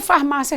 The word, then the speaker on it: farmácia: como eu quiser rapidamente ou não a palavra farmácia realmente pode ser pronunciada de duas maneiras alguém que fala mais